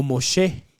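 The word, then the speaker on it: משה: pone Moisés más adelante o moshé que en hebreo así se pronuncia Pero ella se enternece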